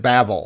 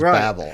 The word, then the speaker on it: Babel: listeners is it yeah is it babel right our american listeners know it as babble right yeah yeah babel or babble um and you know